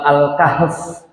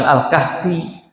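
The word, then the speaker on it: الكهف: Surat An-Nas, surat Abbas, surat Al-Kahf gitu. Bukan Al-Kahfi tapi Al-Kahf, bukan surat An-Nasi tapi An-Nas.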